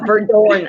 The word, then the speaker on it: Verdoorn: So there you go, Verdoorn. I should have. Verdoorn. Okay. That's how you pronounce it.